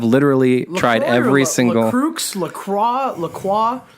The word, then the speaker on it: La Croix: is call is pronounced Lacroix because it's American bastardization of French word so that is the official pronunciation is Lacroix not go boy I'm